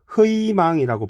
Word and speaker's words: 희망: 한답니다 예를 들어 볼까요 희망이라고 했을 때요 희망이라고 할 때 희이 자음이아요 그래서 희망이라고 발음하기 힘들잖아요 그래서 희망이라고 발음해야 하지 다른 걸로 발음하면 안 된다는 뜻입니다 그다음 두 번째 갈게요